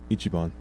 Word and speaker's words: Ichiban: Is it pronounced Ichiban or Ichiban? Ichiban.